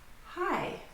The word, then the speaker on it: high: High. So high in the sky. Do not pronounce the GH at the end.